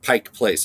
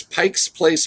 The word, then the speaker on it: Pike Place: it is it's pronounced Pike Place it's not Pikes there's no apostrophe s Pike Place Pike Place that's another way you know a tourist they go where's this Pikes Place Market you go no